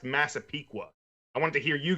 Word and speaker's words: Massapequa: up it is but it's pronounced Massapequa I want to hear you guys pronounce it